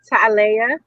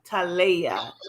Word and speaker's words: Latyma: This is Soul Connections, and can you pronounce that for me? Is it Talaya? Talaya. Talaya.